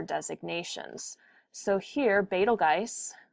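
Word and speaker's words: Betelgeuse: So here Betalgeist many people pronounce it Beetlejuice but it's re really Betalge is marked as an alpha star.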